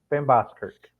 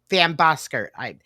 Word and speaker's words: Vanboskerck: And now, while working this organization, he would interview and become a friend with Jennifer Vanboskerck. Did I pronounce that correct, Kenneth? Vanboskerck. Vanboskerck.